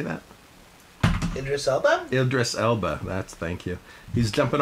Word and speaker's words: Idris Elba: um how do you say that Idris Elba Idris Elba that's thank you he's jumping off a cliff